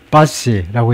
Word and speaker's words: posse: 발음은 물론 이제 pronunciation please 최소한 please는 붙여야 되는데 인공지능이라고 이제 무시하고 제가요. 그래서 하여튼 pass라고 읽네요.